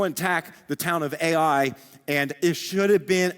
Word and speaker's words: Ai: It's literally just Ai. That's how it's spelled.